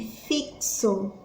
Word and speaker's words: fixo: isso e quantos fonemas quando eu pronuncio fixo o que que acontece como é que sai som percebam que no lugar do x eu acrescentei um ks porque na hora que